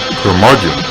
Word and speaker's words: curmudgeon: the curmudgeon rock report curmudgeon rhymes with blood rock gods do it